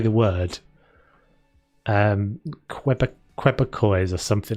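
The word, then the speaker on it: Québécois: Is called it's spelt Quebec with an O-I-S-E or something like that on the end of it. Quebecois.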